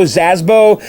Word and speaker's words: Szabo: I would go to someone like Joe Zasbo. His website it's spelled like SZABO.